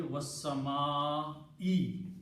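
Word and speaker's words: والسماء: For the oath to happen, this last dhamma has to change into a kasra. And the pronunciation should be was-sama'i now.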